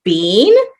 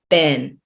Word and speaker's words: been: how have you been so it's that pronunciation of ben in the uk is being in the states we would say been and for this phrase